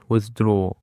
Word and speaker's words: withdraw: Dear listeners and let's jump to another word which is withdraw. Withdraw. Withdraw has two syllables and the stress is on the second syllable.